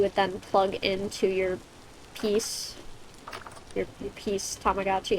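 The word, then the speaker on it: P's: then plug into your piece your piece Tamagotchi. It's P apostrophe S, but it's pronounced like peace.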